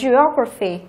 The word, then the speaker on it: geography: Tiếp theo chúng ta có geography, cô cũng vừa phân tích xong đúng không? Graphy thì trọng âm rơi vào O này, như vậy geography.